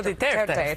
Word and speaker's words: Duterte: I think that the other, when we're talking about with President Duterte, I think is how you say his name. Rodrigo Duterte.